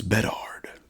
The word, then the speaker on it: Bedard: a New York accent Connor Bedard it's bed hard Bedard kindor bed hard